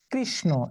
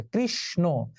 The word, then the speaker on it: কৃষ্ণ: এটা আবার উচ্চারণ হয়ে যায় তালব্য স এবং দন্ত ন। যেমন এই যে আমরা যখন কৃষ্ণ শব্দ লিখবো, পূজা হয়ে গেল কয়েকদিন আগেই, কৃষ্ণ, এখন উচ্চারণ হবে কৃষ, এই মূর্ধন্য স তালব্য স হয়ে যাবে, আর মূর্ধন্য ন দন্ত ন হয়ে এই যে ওকার হয়ে যাবে, কৃষ্ণ। কৃষ ব্যঞ্জনান্ত, ন স্বরান্ত, কৃষ্ণ।